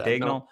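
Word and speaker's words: Daigneault: Dagnall?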